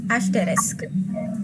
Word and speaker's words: asterisk: number three it is asterisk asterisk people often mispronounce it as asteris it's it's actually asterisk number four carrot carrot